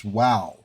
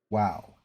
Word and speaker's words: WoW: I'm just saying like nobody's arguing that World of Warcraft is woow, right? You see those letters Wow. Everybody Everybody is in agreement with that.